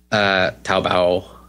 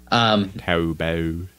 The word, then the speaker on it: Taobao: Taobao. I keep saying it wrong. Taobao.